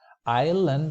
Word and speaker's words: island: the S is silent island also not Iceland because Iceland is the country what we call in Spanish is lenio but here in English we say island and then we have